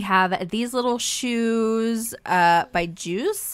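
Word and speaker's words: JIUS: We have these little shoes by Juice, I believe is how you pronounce it, J-I-U-S.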